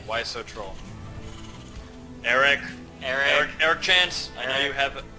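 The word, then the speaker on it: Tschaz: Chance. Like, it's like a chance. It's like T-S-C-H-A-Z. And it's like Chance. Like a Czech word.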